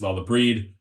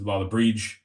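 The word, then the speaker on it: Lá Le Bríde: Depending on what area of Ireland you're from, there's about 3 different pronunciations. We would say this Lalla Breed. The first way I heard it is Lalla Breege.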